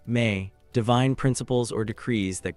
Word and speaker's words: me: One of the most sophisticated concepts in Sumerian religious thought was the idea of the me pronounced may divine principles or decrees that governed all aspects of existence.